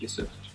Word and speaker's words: Yusuf: No, it's phonetic, so it's just Yusuf.